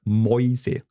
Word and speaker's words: Mäuse: And I think that's an easier sound for a Scottish person, oi, to pronounce. Indeed. You would also find it, for example, in the word Mäuse.